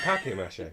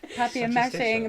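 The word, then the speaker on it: papier-mâché: Wait, is it papier mache? Yes. You made me say it wrong. Papier mashing.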